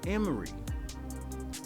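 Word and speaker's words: אמורי: the hebrew word or the hebrew name for the amorites it is pronounced emery which sounds a lot like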